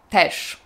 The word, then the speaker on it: też: No właśnie, słyszeliście jak powiedziałam też? Powiedziałam to tak, jakby też pisało się przez szy, a nie ży. Piszemy też, ży, a słyszymy szy, też.